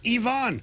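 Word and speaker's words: Iván: and Matthew Liberator have all called this player Ivan. Ivan Herrera. Yet, we go on the internet to the official pronunciation and uh Herrera himself says Ivonne Herrera.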